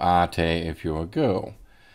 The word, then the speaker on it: ate: If you've visited the Philippines as part of an Australian Filipina relationship, no doubt someone has called you "kuya" or "ate" (pronounced like "ah-tay") if you are a girl.